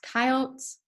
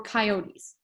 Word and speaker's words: coyote: Foxes and coyotes, it can be pronounced coyotes or coyotes, hunt rabbits and mice.